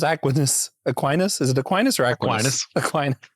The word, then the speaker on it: Aquinas: Is it Aquinas or Aquinas?